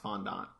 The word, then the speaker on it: fondant: it tastes real good I've also heard it pronounced fond on by who I don't remember the first time I ever heard about it I heard it pronounced his fondant I found that you